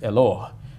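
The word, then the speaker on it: Eloah: name for God is eloh which almost sounds like the Arabic Allah H and sometimes it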